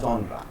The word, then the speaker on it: genre: Next পয়েন্টে কি দেখতে পাচ্ছি, নেক্সট পয়েন্টে দেখতে পাচ্ছি জন বা জনরা, GENRE। এটা হচ্ছে একটা ফ্রেঞ্চ শব্দ, এটার বেসিক উচ্চারণ কিন্তু জন, তবে আমরা উচ্চারণও করে থাকি বা জনরা উচ্চারণও করে থাকি।